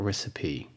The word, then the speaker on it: recipe: recipe recipe so the e the loss is pronounced of e a recipe the same thing with simile simile which is